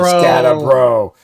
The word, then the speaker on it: Skattebo: Oh God, damn Skattebo, and that's how we say his name, Skattebo.